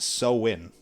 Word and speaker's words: Samhain: way way back when thousands of years but pronounced so win like sow hyphen i n so very interesting